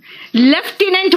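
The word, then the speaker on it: lieutenant: ना ठीक है नेक्स्ट सुनो लेफ्टिनेंट बोलते हैं क्या बोलते हैं लेफ्टिनेंट लेकिन लिखते क्या है लूटने अब बोलोगे लूटने हां एफ तो है ही नहीं क्या कहा मैंने बोलते हैं लेफ्टिनेंट एफ है ही नहीं बोलते हैं कर्नल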